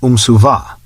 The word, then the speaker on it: umsuva: Imperium was umsuva, with the emphasis on the last syllable.